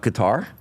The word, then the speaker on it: Qatar: Went to Qatar, or Qatar, to prefer how you pronounce it.